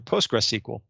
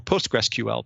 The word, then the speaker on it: PostgreSQL: Also including non-Microsoft products like Azure SQL Database for MySQL and Azure Database for PostgreSQL or PostgreSQL, depending on how you say it.